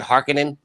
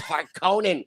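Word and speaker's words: Harkonnen: the new ones in in the new Dunes they pronounce it harkening it's Honan it's haran I watch this movie a thousand times it's har Conan stop saying yeah stop saying Harkin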